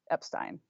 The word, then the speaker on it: Epstein: But so Henry Epstein, nephew of Brian, says Brian pronounced it Epstein.